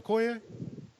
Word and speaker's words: Okoye: Is it Okoye? Yeah, Okoye.